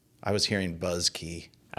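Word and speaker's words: Buske: Busky. Yeah, I was hearing Buzzky. I think he pronounces it Buzzky, but Yeah.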